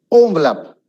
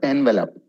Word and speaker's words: envelope: Envelope. It's not envelope. It's envelope. Envelope.